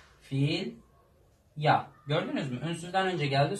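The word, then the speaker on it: filha: Filya. Filya. Gördünüz mü? Ünsüzden önce geldi. Sonunda ne oluyor? Y harfine dönüşüyor.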